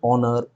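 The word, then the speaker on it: honour: যেমন অ্যান আওয়ার, an honest man, an hair, hair মানে হচ্ছে উত্তরাধিকারী, অ্যান অনার। তুমি দেখো প্রত্যেকেরই শুরুতে এইচ রয়েছে, এইচ রয়েছে, কিন্তু এদের কারোরই এইচের উচ্চারণই নেই।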